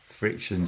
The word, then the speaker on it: FriXion: been using which is the pilot FriXion spelt with an X pen and basically it's